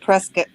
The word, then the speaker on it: Prescott: you gotta leave the state shot and it's pronounced prescott whoa oh we're all over the place with